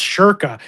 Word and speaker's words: Schoenke: by being like, oh, it's spelt Schoenke, but it's pronounced Shirka.